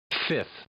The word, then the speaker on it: fifth: Mary Webster actually gives that as one of the legit pronunciations of the word fifth. As do the folk at Oxford who've popped the second F in brackets to show that it is optional.